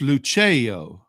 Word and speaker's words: Lucio: Remember, it's Lucio. Lucio. Yeah, you got to do it with your hand. The hand helps you sound out the syllables in it. Thank you. Right. I'm so uncultured. Thanks. Well, it's not culture. It's just an Italian thing.